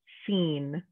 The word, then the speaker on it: scene: And the last combination we're looking at is SC today, where the C is silent. You're just making the sound, like in the word scene, like a scene in